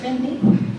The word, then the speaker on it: Fanny: So my name is Fanny. It's pronounced as Fanny. Everyone calls me Fanny, so it's fine.